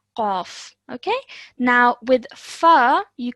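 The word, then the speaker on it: قاف: Ka, Qaf. Qaf. Yes, well done. Excellent. So this is a thick and heavy sounding letter. It's Qaf.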